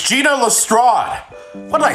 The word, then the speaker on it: Gina Lestrade: if I get this name wrong, scream at me in the comments. Several hours later. It's Gina Lestrade.